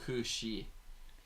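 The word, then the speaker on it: cù-sìth: Sorry, it should be pronounced like Kushi. It's Gaelic for fairy dog.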